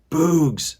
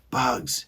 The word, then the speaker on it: bugs: weary face as well bugs he said good said stanley remember it's a short u if there's no e at the end okay here's a hard